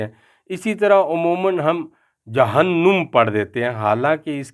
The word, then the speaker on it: جہنم: اسی طرح عموماً ہم جہنم پڑھ دیتے ہیں، حالانکہ اس کا نون جو ہے وہ مشدد مفتوح ہے، یعنی اس کے اوپر زبر ہے، ہم جہنم پڑھیں گے، جہنم نہیں پڑھیں گے۔ اسی طرح یہ مترجم